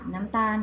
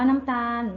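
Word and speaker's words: น้ำตาล: ที่ ถูก ต้อง ค่ะ น้ำ ตาล ค่ะ คำ ว่า น้ำ ตาล มี รอ ลิง เป็น ตัว สะกด แต่ ออก เสียง เหมือน นอ หนู จึง อยู่ ใน แม่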